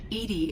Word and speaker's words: EDI: are you named edie edie is the phonetic pronunciation of edi that is an acronym for enhancement what do you